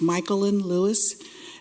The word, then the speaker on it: Michael Lewis: the best of them people don't pronounce my name correctly half the time so my name is pronounced michael lewis and i reside at